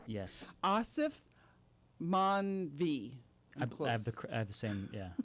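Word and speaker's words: Aasif Mandvi: And I also like the other actor, which I had to really work on pronouncing his name. Yes. Asif Manvi.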